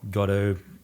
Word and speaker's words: Godot: those who don't know what that is Godot gato how we pronounce it it's an open-source framework that's been